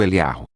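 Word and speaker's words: Eliyahu: Existem duas formas de pronunciar o nome do profeta Elias. A forma curta como Eliá, e a forma alongada como Eliarro.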